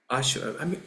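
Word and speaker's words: asura: And Ashura is, curiously, as it is, we pronounce it as Ashura.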